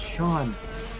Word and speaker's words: Sean: people would call me John. I'm like, my name's not John, it's Sean.